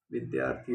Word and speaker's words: विद्यार्थी: सही उच्चारण इसका क्या है? विद्यार्थी हो जाएगा।